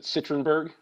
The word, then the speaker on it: Citronberg: Is it Citronberg? Yep, it sure is.